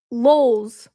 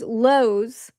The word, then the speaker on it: Lowe's: family mispronounces things like LOLs. Does anyone know what LOL is? My mom's family pronounces Lowe's as lols.